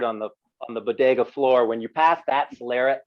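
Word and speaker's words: flor: so when the sherry is spelled f-l-o-r everybody just so if you ever see that word it's floor exactly and so that's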